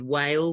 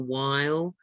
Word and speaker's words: while: So we heard whale for while, and we heard lera instead of leisure, louts for lots, and he also mispronounced entrepreneur as well.